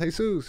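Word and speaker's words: Jesús: And I was just like, it's pronounced Jesus, you know?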